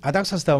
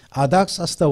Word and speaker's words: 아닥사스다: 아닥사스다는 아르타크세르크세이스라는 말에 우리나라식 그냥 짧게 발음한 겁니다.